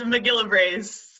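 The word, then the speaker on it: MacGillivray's: How do you pronounce that? It's Mcgillivray's Seaside Sparrow.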